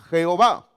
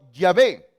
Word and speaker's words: Yahvé: Entonces se le añadieron vocales para que podamos pronunciarlo. Y de ahí salió en nuestra Biblia, Reina Valera dice Jehová. Pero parece que lo mejor sería haber colocado Yahvé. Así hubiera sido quizás mejor todavía. En otras Biblias, en otras